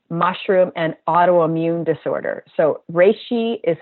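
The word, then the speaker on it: reishi: Google search RI mushroom and autoimmune disorder so RI is spelled re e i s h a RI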